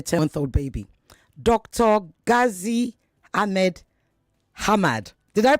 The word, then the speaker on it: Hamad: Ghazi Ahmed Hamad. Did I pronounce it well, sir? Yes, Hamad.